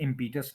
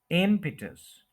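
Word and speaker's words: impetus: पता चलता है कि यह इंपिटस नहीं य आई एम प स्ट्रेस एपिटस मम पटस एम पिटस एम पिटस और आप में से जो कोई नेटिव लिसनिंग करते हैं उनको पता है कि इस तरह से वह बोलते हैं लेकिन समझ नहीं आती कि क्या मतलब कैसे बोलते हैं हम कैसे बोल सकते हैं य उसका मेथड है म पर स्ट्रेस करना मस इटस लिसनिंग वाले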